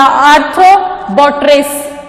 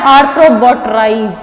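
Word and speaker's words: Arthrobotrys: Pronunciation पे गौर कीजिएगा, आर्थ्रोबोट्रिस, नॉट आर्थ्रोबोट्राइज, this is आर्थ्रोबोट्रिस।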